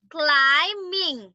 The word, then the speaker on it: climbing: be careful very good can you pronounce climb being timing running climbing kalam baby climbing not being mean climbing climb a very good that is silent B so climbing landing very